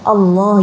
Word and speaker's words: Allah: Allah ya, bukan O ya, tapi A, menggunakan A.